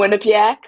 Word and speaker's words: Quinnipiac: I'm going to mispronounce this university, so I'm going to have you go ahead and tell me. Quinnipiac, Okay, Quinnipiac, okay, that one's or going to you could be.